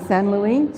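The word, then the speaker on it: Saint-Louis: i am currently in san luis spelled st louis for uh you know americans uh but at san luis senegal and my taves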